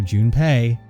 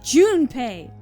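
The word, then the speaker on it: Junpei: of 999 was for Jun pay to send his conscious the call him Jun P I'm sorry that's how I pronounce things it's Jun pay the point is that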